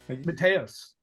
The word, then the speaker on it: Matheus: Matthias, is that how you say it? Mateus? Mateus.